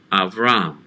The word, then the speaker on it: Avraham: who was originally avraham so avraham abraham in the bible is really avraham so these names actually